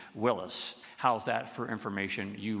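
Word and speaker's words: Willys: War II Jeeps these days people call Jeeps Willies because of how the name is spelled w i l l y s but I prefer the original pronunciation Willis how's that for information you really don't care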